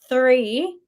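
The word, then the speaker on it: three: But 3, you have to think about the little blow in the tongue. 3 trees. Trees is easy. Everyone should be able to say it. Just go trees. But the 3, really think about your tongue going in between your teeth.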